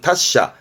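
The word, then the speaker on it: 達者: 그걸 달자라고 해서 발음은 다샤. 같은 얘기지요. 뭐 예를 들어서 다샤나 히토 하면서 뭔가 통달한 사람, 능숙한 사람을 달자라고 표현하기도 합니다.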